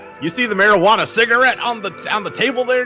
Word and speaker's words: marijuana: Marijuana? Marijuana. Marijuana. Because the J's for Americans back then, they didn't know the J made the huh sound.